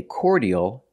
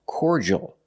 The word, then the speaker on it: cordial: the word is pronounced cordial in American American English cordal make the or sound like for and or core the D makes a j sound like juice and jump cord JJ and the